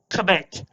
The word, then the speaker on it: CTTB: I am CTTB, pronounced commit. If you know what it stands for, it stands for commit to the bit.